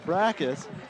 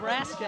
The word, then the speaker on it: Braska: They have Brackus, I believe. How do you pronounce that, Greg? Braska, actually. Braska, that would be it.